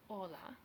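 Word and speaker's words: hola: the exact same way hes in Spanish are always silent as in Ola EX except after the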